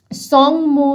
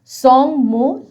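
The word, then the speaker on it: Tsomgo: এবার আমরা পড়ব সংমো লেক, আবার টিটা উচ্চারণ হবে না, সংমো lake, situated in the state of Sikkim, অর্থাৎ এই লেকটি সিকিমে অবস্থিত একটি লেক।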